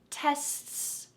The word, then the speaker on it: tests: word test tests tests there's not an awful lot that's happening with your tongue to change the shape between the s letter and the t letter and then the s again instead there's just a change in the amount of air emphasis tests tests your tongue